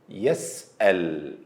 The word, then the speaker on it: يسأل: The right way to pronounce Hamza with sukoon is to hold your breath while saying it. then suddenly release it. As in the word يسأل, يسأل. Holding the breath, then release it.